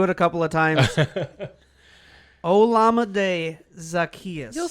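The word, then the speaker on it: Olamide Zaccheaus: name to pronounce and i went for a pronunciation guide olamide zacchaeus i'll go with it okay i'm good with it i looked it up i listened to it a couple of times olamide zacchaeus you'll say that but you won't say albert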